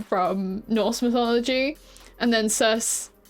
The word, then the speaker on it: Circe: So I love this family because Loki is obviously a name from Norse mythology, and then Circe, I say it's Circe, but I've heard people call it Circe.